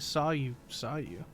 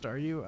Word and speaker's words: Staryu: was still just a Staryu, I could never pronounce its name right. It always ended up like saw you.